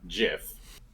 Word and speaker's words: GIF: calling Graphics interchange format GIF it is GIF it is obviously gif there is no reason you would pronounce that as a j have you heard the